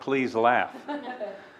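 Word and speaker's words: PSDLAF: District liquid asset fund there is a way they pronounce the acronym I'm not going to attempt pleas laugh it sounds like please laugh okay and thank you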